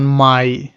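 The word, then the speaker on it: Mai: সেটার মতই আই যেমন মাই মানে মে মাসের নাম যেটা আমার মে এটার উচ্চারণ হয় জার্মান ভাষায় মাই স এ আই এর উচ্চারণটাও হল আপনার আই এর মত মানে প্রথম যুক্তমানটার মতই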